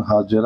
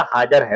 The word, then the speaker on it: حاجر: حضرت حاجر نے کہا، اردو میں حاجرہ ہے. ہاں حاجرہ ہے. اب یہ پورا چونکہ حاجرہ ہی لکھ رہے ہیں، لیکن صحیح جو تلفظ ہے اس کا حاجر ہے، اس حساب سے سمجھے یہ حاجر ہے.